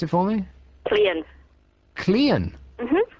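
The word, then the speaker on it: Caerleon: pronounce it for me clean clean mm how do you spell that c a e yeah r l e o n and it's pronounced clean mm so a e and r are silent I guess you could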